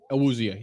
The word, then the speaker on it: Awuzie: Awuzie, yep.